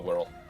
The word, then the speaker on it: Wirral: who was from the Wirral. So it's sort of a case of I've always been taught Wirral, and any other pronunciation got me in trouble.